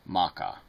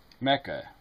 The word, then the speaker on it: Mecca: really are telling me you hear people pronounce it Makkah I mean really Mecca I've never heard it pronounced anything other than Mecca I mean it's one